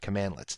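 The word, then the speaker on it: cmdlets: now PowerShell commands are built using commandlets so that's how you pronounce that commandlets and you'll see that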